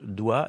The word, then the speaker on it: doigt: Le mot doit par exemple que vous vous pourriez l'écrire DWA, ça serait parfaitement compréhensible. Mais il se trouve que c'est oi pour OA et que il y a un G qui n'est pas prononcé.